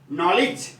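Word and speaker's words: knowledge: इसका ध्यान है आपको, इसको बोलेंगे नॉलेज। क्या करेंगे इसको? देखो नॉलेज, न कि नॉलेज। नॉलेज नहीं लिख करके हम इसको क्या करेंगे? नॉलेज लिखेंगे। क्या लिखेंगे? नॉलेज। यानी के साइलेंट रहता है, के एन के लिए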